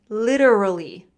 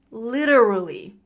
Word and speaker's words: literally: Literally. And because I'm American, I use that flap T. Look at the top of the slide. It says flap T. The flap T is the R sound. It sounds a little bit like D, duh.